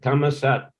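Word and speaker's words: ธรรมศาสตร์: Yeah, see, Shastra, they write Shastra, but they put some silent sign on the ra and they pronounce it sat.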